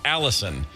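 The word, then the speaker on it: allicin: sulfuric compound called Alice Allison it's not spelled like the woman's name but it's pronounced Allison um some people song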